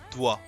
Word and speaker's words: doigt: So the way you write it, okay, first this, the way you write it has like half of the word is mute, is silent. So it's like this is pronounced doigt.